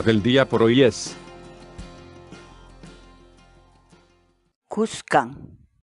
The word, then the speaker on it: kuskan: de vídeos en la que te enseñamos a pronunciar algunas palabras en quechua así que nuestra palabra del día por hoy es buscan buscan buscan la palabra quechua es khan en español